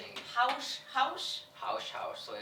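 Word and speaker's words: haux: what that prayer whatever you're saying is it house house house house so it's spelled h a u x okay and then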